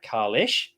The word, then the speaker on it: Kahless: One of the things that's been brought up is the fact that Kahless is pronounced Kalesh.